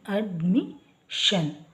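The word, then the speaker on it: admission: vowel ಬಂದಿದೆ at mean ಅಡ್ಮಿಷನ್ ಯಾವಾಗ್ಲೂ ಇಂಗ್ಲಿಷ್ನಲ್ಲಿ ಎಸ್ ಐ ಓ ಎನ್ ಬಂದಾಗ ಶನ್ ಅಂತ ಉಚ್ಚಾರ ಮಾಡ್ತೀವಿ ಈಗ ಡಿ ಆದ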